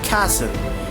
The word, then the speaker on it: castle: The letter T is not pronounced in the following common English word. See, we're talking about the letters T, the silent word exactly where is the word and which we have not pronounced the letter T.